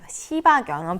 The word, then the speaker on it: 시바견: 시바견. 발음 주의해야 돼요. 시바 이렇게 강하게 읽으면 안 되고 시바견하고 읽어야 되는데요.